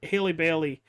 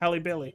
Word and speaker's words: Halle Bailey: Like Haley Bailey, I could see her playing Ariel 100%. No, it's Haley Bailey. It's Halle Bailey.